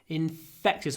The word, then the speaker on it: infectious: to yawn it's infectious infectious hold the F hold the F then a really short a infectious infectious okay 247